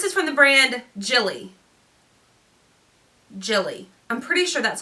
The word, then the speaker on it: Gilli: Gilli. I'm pretty sure that's how someone told me it's pronounced.